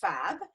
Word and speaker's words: PHAB: b mean sure so phab is pronounced fab but it's it stands